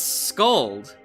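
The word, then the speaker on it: Skuld: No, it's Scold. You have to fuse those words together, Selkie. So it's spelled with a K and U, but it's Scold.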